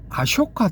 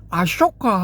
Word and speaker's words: 아쇼카: 요런 케이스를 어디서 볼 수 있느냐 하면은 아쇼카 대왕 여기서 볼 수가 있는데이 아쇼카라는 그 표기를 원어대로 할 것 같으면은 대반화거리를 보면은 쇼가 맞거든요. 쇼 소가 아니고 쇼 쇼 할 때 그 앞부분 그이 자음 부분 요런 발음이거든요.